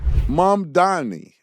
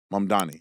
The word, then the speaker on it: Mamdani: Mum Dorney. Mum Dorney. Mum Dorney. Mum Dorney. That's how you say his name.